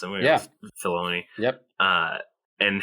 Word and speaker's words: Filoni: I was you mentioned Will, Dave Filoni or Fioni, however you pronounce him. Filoni.